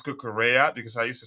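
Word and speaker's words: Cucurella: taught how to pronounce kukura because I used to say curella so now this is the secret l l is pronounced Double L is pronounced as y in Spanish wow so it's pronounced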